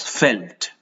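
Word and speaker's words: veld: South Africa is weld but it is pronounced as felt felt spelling is well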